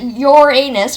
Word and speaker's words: Uranus: We don't pronounce it Uranus, we pronounce it Uranus.